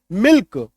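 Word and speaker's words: milk: एम आई एल के के से पहले एल है लेकिन एल का उच्चारण होगा मिल्क एस आई एल के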